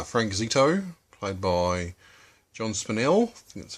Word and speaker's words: Spinell: main character uh frank zito played by john spinell that's how you pronounce it um he's a bit um had